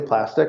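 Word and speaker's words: Plastiq: a service called plastic it looks like it's spelled plastic because it's a cue at the end but it's actually plastic little trivia and what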